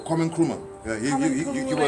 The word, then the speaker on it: Kwame Nkrumah: Kwame Nkrumah.